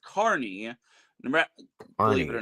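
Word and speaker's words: Kearney: Maybe Nebraska is actually pronounced Carney.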